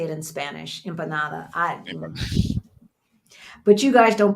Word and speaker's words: empada: Empada. But you guys don't pronounce all the vowels and some stuff, you know.